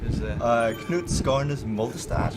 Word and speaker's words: Knut Skarnes Moldestad: Oh, you better pronounce that. Knut Skarnes Moldestad.